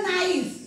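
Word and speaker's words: knife: याला काय वाचलं नाईफ मग याच्यामध्ये के चा उच्चार आपण केलेला नाही म्हणून ह्या ह्या वर्ड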